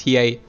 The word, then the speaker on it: Hiei: And the thing is, most people will want Hiei, most people will want Yusuke, and now the other... I really dislike this pronunciation. It's Hiei.